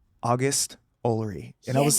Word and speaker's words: August: And you were like, "August."